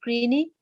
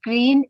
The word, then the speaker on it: Greene: it's called the robert greeney uh-huh i think that's how he pronounced his name yeah it is it's with green and there's an e at the end that's all right it's just green i'm not quite sure